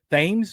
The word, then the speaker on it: Thames: Thames. I think Okay. the H is silent.